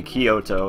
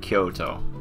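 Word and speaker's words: 京都: of words like that Kyoto is another city in Japan that not it's not going to be Koto it's it's going to sound like Kyoto so that's something to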